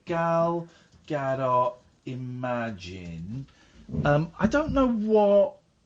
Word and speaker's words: Gal Gadot: Yeah, Gal Gadot.